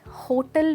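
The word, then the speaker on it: hotel: Well दोस्तों, ये गाना सुना होगा आपने हिंदी, किसी होटल में जाए, राइट। उस गाने में इस वर्ड की प्रोनाउंसिएशन एक्चुअली गलत है। इस वर्ड को कहा जाता है होटेल, दैट्स राइट।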